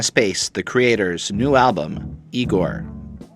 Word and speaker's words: IGOR: about Tyler comma space the creator's new album igor pronounced EEE - Geor now Tyler the creator made this big old